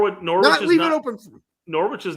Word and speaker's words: Norwich: for Norwich next season nor sorry Norwich fight some English dude it's Norwich you don't pronounce the W dumbass excuse me we